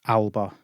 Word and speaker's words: Alba: so uh but i know that it is pronounced alba um so i need to keep i've just